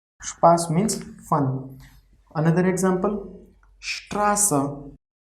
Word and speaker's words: Straße: Another example, Straße. See here we are pronouncing S as sh.